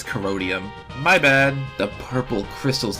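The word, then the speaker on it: Corrodium: fact only referencing the coridium from season 3 hello post alonia I mispronounce it wrong it's codium my bad the purple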